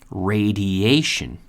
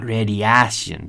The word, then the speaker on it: radiation: So the intonation here or the pronunciation I should say is very important. radiation Not radiación, but radi-a-ation.